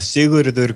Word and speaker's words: Sigurður: And I will leave the pronunciation of the artist who's creating this monument to you, Breki. Yeah, say that. Sigurður Guðmundsson.